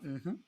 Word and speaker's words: mmhmm: Alors, j'ai pas fait d'erreur, ça s'appelle bien Mhm. Ça s'écrit MMHMM.